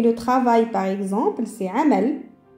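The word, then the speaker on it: عمل: On va trouver le travail, par exemple, c'est amal. Amal, alors, on entend bien la lettre harf al-ayn.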